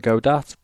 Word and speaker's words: Godat: So the bit I was struggling one is pronounced go. So Godat.